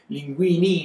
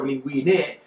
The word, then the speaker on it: linguine: easy because, you know, even if they mispronounce something, they say linguini instead of linguine, I'm not dumb, I understand what you want.